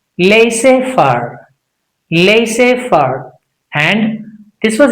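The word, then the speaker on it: laissez-faire: But what is the right way? It's simply laissez. Can you say laissez? Fur. Laissez fur. Laissez fur. Can you say that? Correct. Laissez fur.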